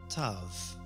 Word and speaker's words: Tav: Tav. Tav is pronounced as a soft T.